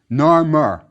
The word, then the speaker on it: Narmer: The one on top is a catfish, which was pronounced nar in ancient Egyptian. Beneath it is a chisel, pronounced mur, nar-mur. That's how the first king's name was pronounced.